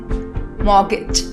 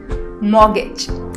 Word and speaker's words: mortgage: next word what gauge mortgage mortgage r and t are silent in this in the